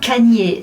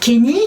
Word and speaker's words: Kanye: En attendant, Kanye West, prononçons bien Kanye, c'est pas Kenny comme à chaque fois je dis. Kanye. Oh, I'm from Ohio, we say Kenny. That's how we pronounce it. Well, I don't care where you're from, you pronounce my name Kanye.